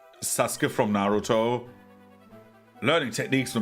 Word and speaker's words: Sasuke: is like, for example, Sasuke makes more sense because like you have like the U that you don't pronounce really, right?